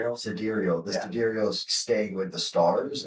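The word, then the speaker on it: sidereal: How do you pronounce it again? Cadurial. Cadurial. The cedarial is staying with the stars.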